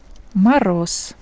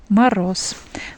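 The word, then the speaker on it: мороз: And when we uh see Z at the end of words, we pronounce S instead of Z. Maros. Maros.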